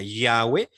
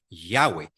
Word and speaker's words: Yahweh: simplemente la españolizacion yahwe de hecho yahw cuesta mucho pronunciarlo porque no suena a español en español no terminamos una palabra con una H Cómo hacer eso no O no tenemos una H intercalada eso es muy difícil